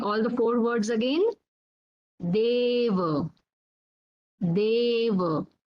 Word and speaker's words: deva: So here you can observe the pronunciation of A is long. It is a bit stretched.